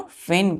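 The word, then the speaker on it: feign: तीनों क्या है बच्चों फेन के सिनोनिम है एफ ई आई जी एन जी यहां साइलेंट हो जाता है फिन पढ़ते हैं बहाना करना तो इन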